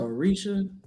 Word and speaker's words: Orisha: She said Orisha.